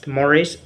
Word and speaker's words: mores: Okay, formal norms, also called mores, or we pronounced it mores, and laws refer to standards of behavior considered the most important in any society.